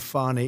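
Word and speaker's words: Fani: Tre you very unfairly she goes by the name of fonny even though it's F A ni I she wants to pronounce fny she's little little French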